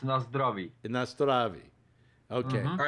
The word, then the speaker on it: na zdraví: In Czech, na zdraví. So it's kind of not like Russian. Nastrovia. Yeah, like in Russian, it's na zdraví, and in Czech, it's na zdraví.